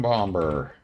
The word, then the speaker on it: bomber: And we are going to call this the Craft 1 Concussion Bomber. I know you don't pronounce the B, the second B, but I'm calling it a bomber.